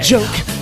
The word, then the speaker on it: joke: The word joke has two vowels, O and E. We use a long sound of O, and E is silent E.